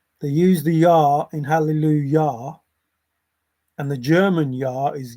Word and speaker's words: Hallelujah: J because the J the Yah in German Yah for yes is the same as the Hallelujah that's written with a J.